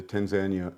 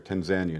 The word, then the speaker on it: Tanzania: By the way, that's how they pronounce it there, Tanzania, not Tanzania. You'll hear me pronounce it both ways. Tanzania? Tanzania, because it was Tanganyika and Zanzibar. When they put it together, they just say Tanzania.